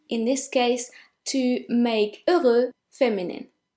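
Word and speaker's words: heureux: means beautiful number four over over the X is silent over and the feminine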